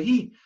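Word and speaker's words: היא: Обратите внимание, что слово «ги» в нескольких местах в Торе написано не с юдом, а с вавом, но читается оно, тем не менее, «ги». Как читать? Это определяет месора, традиция.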